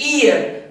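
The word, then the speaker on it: heir: तो यहाँ पे चूंकि प्रोनाउंसिएशन ई से है, यानी कि इसका साउंड जो है वॉवेल की तरह है, ईयर, यहाँ पे ई से प्रोनाउंसिएशन हो रहा है, यानी कि वॉवेल साउंड हो रहा है, एच का प्रोनाउंसिएशन यहाँ नहीं है, इसलिए यहाँ पे वॉवेल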